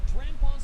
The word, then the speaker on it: Drampaw: Its name rhymes with grandpa.